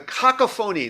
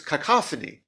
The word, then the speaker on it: cacophony: the oh I'm sorry I'm pronouncing it wrong probably a TI here I think it's cacophony oh I'm sorry cacophony the cacophony not kakapon kakapon is what my